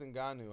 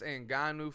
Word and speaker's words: Ngannou: was uh Tyson Fury the heavyweight champion Francis and ganu I believe is how you say it Francis